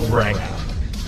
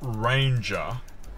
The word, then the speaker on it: Ranger: your car has arrived the Ford ranked stand even more out of the crowd well there it is what do you think you know it's pronounced Ranger and now here's